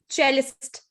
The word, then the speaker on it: cellist: It is not pronounced as cellist. It is cellist or cello.